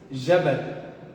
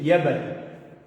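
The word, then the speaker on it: جبل: Ia ser Yabal, como nossos irmãos no Bahrein e alguns lugares da Península Árabe. Eles pronunciam o que? O Jim, a letra Jim, como se fosse o Ia. Como se fosse o Ya, que é essa letra no árabe, né?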